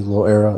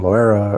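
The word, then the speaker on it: Loera: died I guess that the easiest way to say it is just low like as in the word low and then era as with the word era so yeah next is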